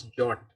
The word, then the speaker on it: JWT: And it's pronounced as JOT, as mentioned in the RFC 7519.